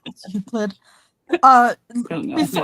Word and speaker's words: Euclid: It's Euclid. Don't know Before- how to pronounce it.